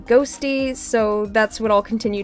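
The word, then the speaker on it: Qhosty: It's spelled Q-Hosty, but apparently it's pronounced Ghosty, so that's what I'll continue to refer to them as.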